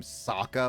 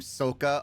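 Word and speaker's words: Sokka: I got I kept I it made me pronounce soka's name Saka for a little bit or no his name is Saka s his name is Saka no I I I mix yeah Saka is name sooka for a little bit yes like that because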